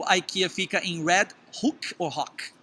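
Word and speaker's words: IKEA: aqui tem a rede ai que ia se escreve i k e a né pronuncia aqui e você pode pegar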